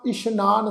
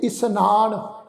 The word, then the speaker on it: इशनान: इशनान ससे पैर बिंदी लगा के पाठ उच्चारण करांगे। इशनान, इनू इसनान इस ढंग नाल उच्चारण नहीं करना।